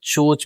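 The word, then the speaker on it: CHoCH: जिसे हम चोच बोलते हैं। सी एच ओ सी एच चोच।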